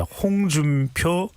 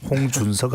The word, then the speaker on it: 홍준표: 자, 홍준표 대구시장입니다. 홍준석 아니고요.